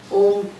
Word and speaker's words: ओम: लिख देते हैं, और ओम अलग ढंग से लिखा जाता है, अ उ और माँ आता है. लेकिन जब माँ का उच्चारण होता है, उसके बाद एक मौन आता है. और जब हमें सिखाया जाता है, तो ये सिखाया जाता है कि आप लेंथन दैट माँ, यू नो.